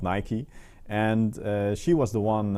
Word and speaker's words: Nike: for everyone yeah and now you uh finally know how to pronounce nike correctly because some of them especially in the netherlands say nike but it is nike because it's uh yeah nike the goddess of victory and here you see